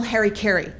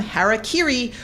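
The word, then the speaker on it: hara-kiri: they wouldn't commit professional Harry Carey which I found out through Wikipedia is actually a Corruption of the real term harakiri or sipuku by the way I learned the proper pronunciations for both of those on YouTube imagine how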